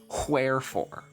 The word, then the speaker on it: wherefore: That's pronounced wherefore. Ever met someone who pronounces wh words with a W.